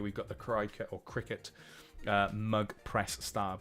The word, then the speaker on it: Cricut: But I always read it as Cricut. I do. Because if that had a T there, we would probably call it a Tricut, not a Tricket. But I believe it's pronounced Cricket.